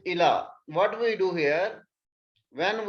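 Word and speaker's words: إلى: We don't pronounce it ya. If the ya without the dots, we pronounce it alif. So it is ila.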